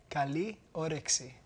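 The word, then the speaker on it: καλή όρεξη: Kaliorexi. What's that mean? It means enjoy your meal. Oh, how do you say it? Kaliorexi.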